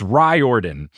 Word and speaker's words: Riordan: pronounce his name and i do think that it's ryordan because i found a